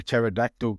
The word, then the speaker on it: pterodactyl: Why can't you hear a pterodactyl go to the toilet? What's that? Because the P is silent.